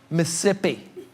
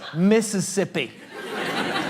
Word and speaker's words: Mississippi: McNally, it's not Mississippi. It's Mississippi. You're costing me an entire syllable of hydration with YOUR PIGEON ENGLISH."